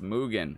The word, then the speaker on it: Mugen: It's Mugen. It's pronounced Mugen.